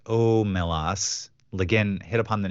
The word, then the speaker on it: Omelas: Wikipedia lein stated that the Sea's name is pronounced omelas lein hit upon the name of the town